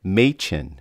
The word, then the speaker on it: Machin: Oh, he wrote, pronounced Machin. See, he helped me.